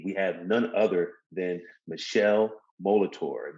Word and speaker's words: Michele Molitor: And today we have none other than Michele Molitor. Did I pronounce that right, Michele? Yes, sir. Good. You got it all good.